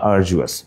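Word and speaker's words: arduous: জানি ইম্পোস্টার ওকে আরডিওয়াস আরডিয়াস মানে কিন্তু হচ্ছে কষ্টসাধ্য হ্যা বা আরজুয়াস উচ্চারণটা আরজুয়াস তো আরজুয়াস ওয়ার্ডটা কিন্তু ডিউরস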